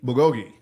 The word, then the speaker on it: bulgogi: How do you pronounce it? Bulgogi? Bulgogi.